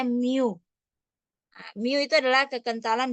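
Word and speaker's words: μ: dibagi dengan Mi mu ini adalah ee eh huruf Yunani ya dibacanya Miu nah Mi itu adalah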